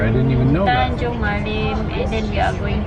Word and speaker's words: Tanjung Malim: The train has stopped in Tanjung Malim.